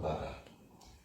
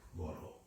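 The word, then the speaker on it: বড়: The D with the dot on below is, in this case, pronounced as an R. Anyway, it's a bad way of transliterating, but it's actually a D, but it has a dot on below, and so they pronounce it as an R. And you have it in Kripavalo Kana Boro, Ami Boro Duki. Boro means a lot or great, so it's not Bada, Boro.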